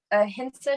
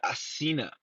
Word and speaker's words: Ahinsa: I always said Asina. Wow. I Wow. I mean, see. it's spelled Ahinsa. Ahinsa, so It must I be let me my make sure.